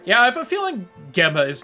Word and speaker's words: Gemma: Arjihun Gemma? I don't know. No one said it out loud yet. I winged it. Priest! It's Gem. Okay. Soft G.